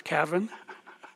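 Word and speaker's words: Cavan: Ireland and the feast site over there is Cavin it's the way they pronounce it but if you go over there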